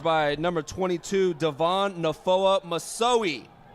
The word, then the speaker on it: Misoe: Great coverage by number 22 Devon Nafoa Misoe. Misoe. How do you say that name twice, Bo? Yeah, Misoi. Misoi with the dive like Superman dive right there.